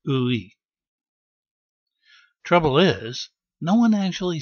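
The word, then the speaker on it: 의: Then you've got this ø and e sound, ø and e sound. Pronounced together, it's ui.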